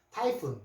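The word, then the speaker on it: typhoon: 자, PH는 F자 소리로 해서 피읍자 소리고요. 요게 운입니다. 자, 그러면 타이 되죠. 타이. PH 발음 주의하시고 타이. 타이푼.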